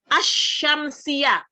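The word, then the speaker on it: الشمسية: Al-qamariyah, kemudian ada al-syamsiyah. Asy-syamsiyah, alnya nggak terdengar. Asy-syamsiyah gitu ya, bacanya begitu.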